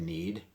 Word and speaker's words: knead: right there in need it starts with kN but the K is silent like in the word no I'm meeting bread and